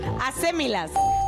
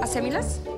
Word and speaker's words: acémilas: Acémilas. Acémilas. Acémilas. A-C-E-M-I-L-A-S. Acémilas. Y acento en la Acémilas. ¿En la E?